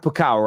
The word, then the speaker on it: Pokal: Is it pronounced Pokal, right? The DFP Pokal, yeah.